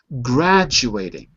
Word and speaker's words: graduating: Graduating. Notice the T becomes a D.